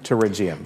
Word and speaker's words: pterygium: actual name is pterygium pterygium so many people get stumped by that word because it starts with a P but it's pronounced with a T okay it's a really